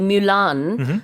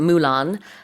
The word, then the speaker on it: Mulan: In the animated movie Mulan, or is it Mulan? Either Both are pronunciation. accepted, I think.